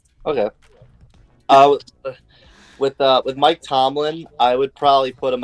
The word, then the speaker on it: Mike Tomlin: tier, but as Drew couldn't even say his name right, it's Mike Tomlin. I don't even know what the hell Drew was trying to say, but it's Mike Tomlin.